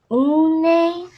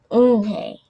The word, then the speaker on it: Unhei: Une? The girl asked, scrunched up her face. Une? Some kids chanted. No, Eunhae corrected. It's spelled Unhei. It's pronounced Eunhae.